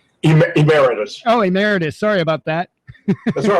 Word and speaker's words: emeritus: a mcnight professor I don't know how to pronounce emiritus Emeritus oh Emeritus sorry about that that's all right at the